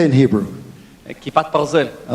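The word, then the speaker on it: כיפת ברזל: Kipat Barzel.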